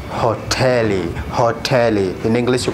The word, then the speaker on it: hoteli: also another word hoteli hotelie sorry hotelie means hotel okay hotel so we pronounce just this sound as the same in english but in english uh it's hot hotel but in sohil it's hotelie you seem like uh